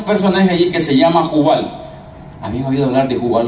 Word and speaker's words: Jubal: Jubal. J-U-B grande A-L. Jubal. Ok, muy bien. Entonces, Lamec, con K, que se pronuncia Lamec en hebreo, es considerado como el inventor del laúd.